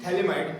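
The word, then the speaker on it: phthalimide: पीएच बेटा silent है, ठीक है। Gabriel थैलिमाइड synthesis.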